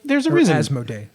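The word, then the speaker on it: Asmodee: like there's a reason as mode a that's how you pronounce it has no - yeah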